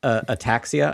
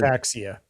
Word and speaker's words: ataxia: Darth Ataxia. Ataxia. ATAXIA, and it's Greek. That's ataxia. Ataxia. But ataxia sounds like attacks.